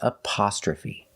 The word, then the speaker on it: apostrophe: The first sound is a short like cup and up. Up. Apa. We have the short sound ah, like stop and hot.